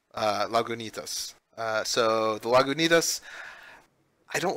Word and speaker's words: Lagunitas: For me, it was the Lagunitas. Jeez. I even said it wrong. Lagunitas.